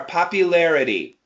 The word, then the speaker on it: popularity: careful with the r popularity popularity no let's do this do this word Larry Larry good and now larity larity l lity no it's R it's awah sound it's a schw sound lity yes popularity poity excellent